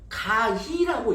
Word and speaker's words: 가희: 근데 여기 가이라고 하는 것이 딱 와닿지 않잖아요. 사실 한글로 하면 가희라고 읽어야 맞습니다.